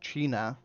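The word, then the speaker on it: teine: So China, for instance, which literally just means fire in Gaelic, um, is spelled Tiene.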